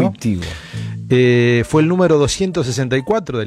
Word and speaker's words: Wojtyła: El papa polaco Karol Józef Wojtyła, en realidad Wojtyła es la pronunciación correcta, ¿no? Wojtyła.